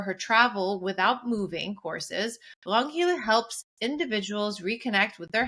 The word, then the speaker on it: Ragnhild: So in Norwegian, you would pronounce it Ragnhild in Okay. the region where I come from. So with a soft R, Ragnhild.